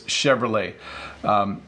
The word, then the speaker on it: Chevrolet: a company called Chevrolet this could be a hard word to pronounce for English speakers because you want to say the T but you don't say it so its Chevrolet so this is the